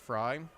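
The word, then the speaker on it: Frey: over at first base fry now pinch running at first last name spelled f re y but pronounced fry just like the manager of the 1984 Chicago Cubs Jim fry here's Jason Jackson out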